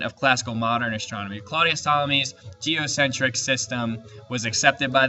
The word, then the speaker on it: Ptolemy: other strawberries now claudius ptolemy and i know there's a p there but you don't pronounce the p it's silent claudius ptolemy was the most famous